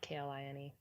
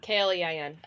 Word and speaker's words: Klein: Klein is spelled Klein, not Kline. So Klein.